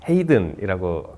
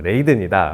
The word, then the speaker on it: 레이든: 근데 제 기억에 티에스토가 당시 라디오에 저를 소개할 때 이제 레이든이 아니고 이게 네덜란드 억양으로 헤이든이라고 한 게 기억이 나서, 아무래도 막 페스티벌이다 보니까 제가 그때 약간 취기가 있어가지고 왜 내 이름을 똑바로 발음하지 않았냐, 나는 레이든이다 라고 해서 이제 티에스토도 먼